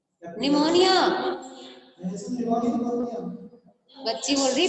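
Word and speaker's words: pneumonia: मैंने बताया था पी साइलेंट रहता है, क्या बोलते हैं? निमोनिया, बच्ची बोल रही पेनोमिया, पी बेटू साइलेंट रहता है, पेप्टिक अल्सर, ठीक है।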